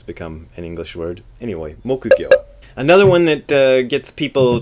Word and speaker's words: mokugyo: This is called a mokugyo. Mokugyo, which is literally wood fish. Mokugyo. And I always hear this being pronounced mukugyo.